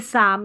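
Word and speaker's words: psalm: जैसे psychology, psychologist और ये साम है। पीएस साथ में आता है तो पी साइलेंट रहता है।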